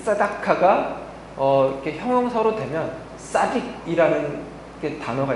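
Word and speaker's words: צדקה: 그리고 또 한편으로 우리 차다카 이야기 했었죠. 정의로 번역된 차다카인데 조금 더 이제 이렇게 원어적으로 발음을 하면 사다카입니다. 근데 이 사다카가 이렇게 형용사로 되면 사딕이라는 단어가 있는데요.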